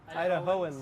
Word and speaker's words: Idahoans: Idahoans.